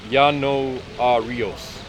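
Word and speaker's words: Ianuarius: Yano a rios.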